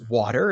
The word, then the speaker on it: VVATER: He is CEO of VVATER, but it's pronounced water. It's spelled with the two V's.